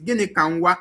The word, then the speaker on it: Gịnị ka nwa: So the pronunciation of that name is Gịnị ka nwa. I know that what I was saying is rubbish because it doesn't sound like Igbo name. Gịnị ka nwa. So you guys, you should learn how to pronounce it.